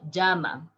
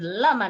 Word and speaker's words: llama: animal is also called jama in english you call it llama but in spanish if you said lama nobody is going to understand because we pronounce the double l right a little bit stronger so listen my pronunciation